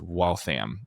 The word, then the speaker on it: Waltham: Ford because Waltham watch company and it's correctly pronounced Waltham because it's still called Watch City.